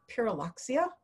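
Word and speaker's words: Pyrrhuloxia: And I'll say Pyraloxia, and I get them to say it, and so they learn something. And then I show them in the field guide the difference between a Pyraloxia and a cardinal, and the field guide marks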